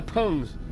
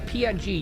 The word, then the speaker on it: PNG: calling it a Pung you're not calling it a pong right you're that sounds like a slur you're calling it a PNG you're you're you're saying the letters says so the way the acronym is spell dictates how the word sounds all right all right